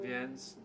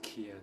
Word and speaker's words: Vienne: I've been on the channel before, and anyone else, check out Vienne's YouTube channel. It's called Duo Voce, and it's not pronounced Kian, it's Vienne, as I learned last week.